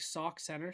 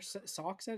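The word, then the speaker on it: Sauk Centre: Sock center. Is that how you say it? Sock center. Is it like s aux or something? S a k. Sock center. It would be sock.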